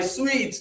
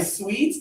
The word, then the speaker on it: suit: You don't want to say, "Oh, I'm going to wear my sweet to the event. I'm going to wear my suit to the event. No.